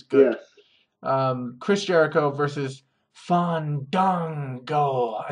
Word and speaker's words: Fandango: Chris Jericho versus Fandango.